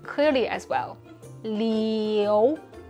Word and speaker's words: Liu: our mouth like this super common family name leo when english speakers say it it sounds like a lou which could be at least three other family